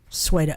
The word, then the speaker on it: Sweda: sweet at Sweda is it pronounced Sweda or Sweda sweater okay okay suedo we're